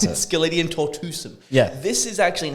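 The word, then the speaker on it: Sceletium tortuosum: Well, that's how you pronounce it. Skeletium tortuosum.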